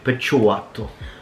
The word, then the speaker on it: picciotto: Okay, so the first one is picciotto. Picciotto. Now let's pronounce it the proper way. Picciotto.